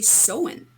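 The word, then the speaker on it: Samhain: we're terrible language right the pronunciation of it is actually soen like I I had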